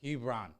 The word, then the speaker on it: Hebron: my name i'm like it's like lebron but with an h hebron that's been my go-to